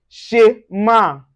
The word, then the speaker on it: schéma: So anywhere you see SCH, you also pronounce it as the sound. So for instance, we have schéma, schéma. And a special case, you can see it in shampoing, shampoing, as a J.